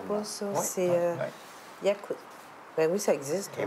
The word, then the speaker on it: yakuza: Je pense pas que ça Attends, s'écrit mais même accusant. Non, c'est pas accusa, c'est yakuza. Oui, il y en a dans mon jeu Tokyo Squirt Demolition.